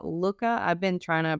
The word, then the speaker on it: Looka: It's called Looka. Not Luca, Looka.